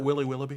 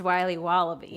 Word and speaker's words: Wiley Wallaby: Can I have a piece of that Willy Willoughby? Wally Wibbly. Wiley's Wallabies. Wallaby Wallies? Wilby Wababy? It's pronounced Wiley Wallaby.